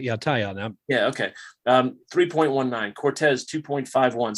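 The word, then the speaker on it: Taillon: How do you say his name, Mark? Correct me. No, that's how I say it. Yeah, Tyon.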